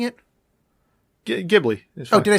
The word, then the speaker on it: Ghibli: What did we decide we're pronouncing it? Ghibli.